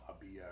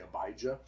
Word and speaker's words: Abijah: the right pronunciation prop well hebrew has no j so it would have been you know habia or something like that okay yeah okay most english speakers are going to say abijah so that's right which